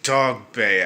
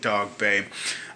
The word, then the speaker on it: Dogboe: a fight from Isaac talk Bay I do apologize I've been pronouncing his name wrong the whole time but we got it right Isaac dog babe um hey I picked